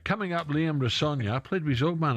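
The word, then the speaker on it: Rosenior: I was going to say Rossignol. What did I say? You told me earlier. Sonia. As in Sonia. Coming up, Liam Rossogna, played with his old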